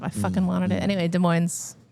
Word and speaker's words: Des Moines: Anyway, Des Moines. You got to pronounce the S in Moines, though, because it's not Iowa, it's Washington.